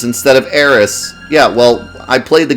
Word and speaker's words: Eris: I can't believe he said Ares instead of Eris.